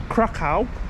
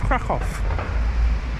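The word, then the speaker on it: Kraków: Um for example, we call crackoff crack, but actually it's crackoff. The W is a V.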